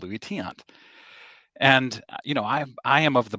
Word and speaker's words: Luis Tiant: And he said it 4 more times as Lewis Taint, which confirmed that he has never, ever heard of Luis Tiant.